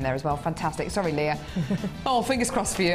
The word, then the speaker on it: Leah: oh sorry have I I called you Lee it's Leah oh no got your